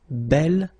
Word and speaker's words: bel: have to put this belle form instead of beau. Okay, remember you pronounce it belle, so like the feminine version, but then you write it B-E-L.